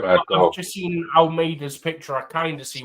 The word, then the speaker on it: Almeida: Almeida.